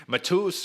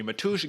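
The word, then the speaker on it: Matúš: man 65 second win matus or matush excuse me matush gamro now you gotta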